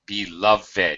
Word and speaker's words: beloved: beloved by the way beloved it's a it's three syllables because it's an adjective so we don't have to pronounce it as if it was a past tense verb where is my beloved